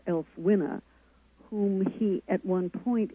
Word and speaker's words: Ælfwine: Now, and once again, I'm now trying to pronounce this name again, Ælfwine? Ælfwine.